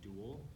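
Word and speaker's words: Dual: for about a year called Duel. It's spelled D-U-A-L, but it's a clone, like a pseudo sci-fi thing that it deals with cloning.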